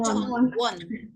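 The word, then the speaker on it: 천원: Iya harusnya kan conon ya orang Korea akan bilangnya conon.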